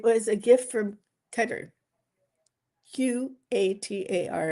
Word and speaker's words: Qatar: Q A T A R everybody pronounce it differently. I say Qatar.